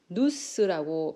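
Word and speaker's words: νοῦς: 자, 영어로는 마인드로 번역되고 헬라 원어로는 누스라고 발음을 합니다.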